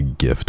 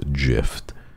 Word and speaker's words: GIF: anyway to be honest pronouncing it as a gift was mid so maybe it's better if it's pronounced jift I like it better that way I don't know about me don't know about you but I kind of like it better pronounced jift anyway so thank you